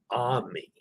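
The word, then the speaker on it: Amy: night, which is on Ami Bayou. It's spelled A-M-Y, but pronounced Ami.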